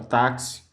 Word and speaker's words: táxi: Um exemplo aqui, ó, a palavra táxi. Mais um exemplo aqui, a palavra tóxico. Então, o que acontece? O X aqui, ele desempenha a função, ele é pronunciado como CS, mas é escrito com X.